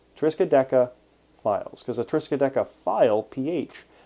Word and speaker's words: Triskaidekafiles: e k a f i l e s triska deca files because the triska decaphile ph that is the